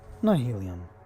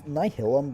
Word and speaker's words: Nihilum: Nihilium. Nihilium. Nihilum. It's Nihilum, but I don't know if it's meant to be spelled like nihility.